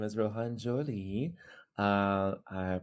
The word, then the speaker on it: Zhou-Lee: sure hi everybody um my name is Rohan Jolie uh I pronounced Adam um let's see what else I'm